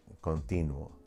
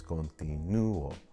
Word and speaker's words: continúo: It ends in a vowel, and we would expect the I, the second to the last syllable, to have the stronger pronunciation, the stronger stress. So it's not continuo, it's continuo. And there's a diphthong there. We have to break that diphthong, continuo. Otherwise, it would be one sound.